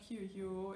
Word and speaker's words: queue: It's not QU, it's not QE, it's not anything else you might think of, it's Q, right, just two sounds, Q.